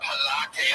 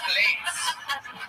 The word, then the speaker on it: Pilates: She's been eating a lot of Pilates and plates. Plates, but it's pronounced it Pilates. Yeah, there you go. Like P-space latex.